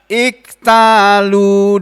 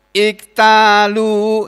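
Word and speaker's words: إذا اكتالوا: Idza, ketika, iktalu, ini asalnya iktalu, membacanya begitu. Iktalu kalau dibaca sendiri, tapi kalau digabung alladzina idzaktalu, idzaktalu, begitu bunyinya. Alan nasi yastaufun, alladzina, orang-orang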